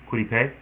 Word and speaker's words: Kwity Paye: Kwity Paye?